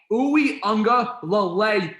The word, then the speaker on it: Uiagalelei: It's not Lele. Uiagalelei, you imbecile.